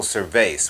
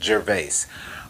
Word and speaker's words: Gervais: The CEO of this company's name is Michael Gervais, which, if I'm pronouncing it correctly, rhymes with Gervais.